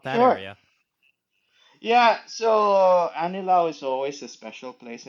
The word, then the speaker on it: Anilao: Anillo, right? Anillo, is that how you pronounce it? Anillo. Anilao.